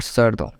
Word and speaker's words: cerdo: So E makes C to pronounce like C, therefore it will join E in a table which pronounced C as C.